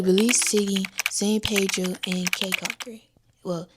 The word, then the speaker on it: Caulker: So I traveled to Belize City, San Pedro, and Caulker. Well, it's not Caulker, it's Caulker.